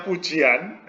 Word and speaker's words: Fujian: Fujian itu ya namanya. Kalau kita membacanya Fujian.